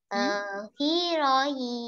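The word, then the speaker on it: héroïne: I am not pronouncing H there. Why? In French, if your word is beginning with letter H, then H will be silent.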